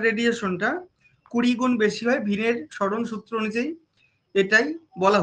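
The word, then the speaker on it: Wien: এখানে ডব আইএন অর্থাৎ ভিন উচ্চারণটা ভিন হচ্ছে। তো ভিনের একটা সূত্র রয়েছে ডিসপ্লেসমেন্ট ল যেটাকে বাংলাতে স্মরণ সূত্র বলা হয়।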